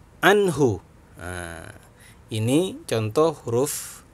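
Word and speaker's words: عنه: Jadi dibacanya jelas, tidak boleh ditarik, tidak boleh mendengung atau samar. Jadi tidak boleh anhu. Nah, ya. Jadi dibacanya anhu.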